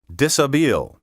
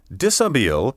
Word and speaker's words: dishabille: Dishabille comes from a French verb meaning to undress, which explains why it has all those silent letters.